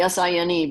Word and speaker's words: sine: If you're talking about the sine of this angle, It's really S-I-N-E, but they abbreviate it. It looks like sin, but it's pronounced sine.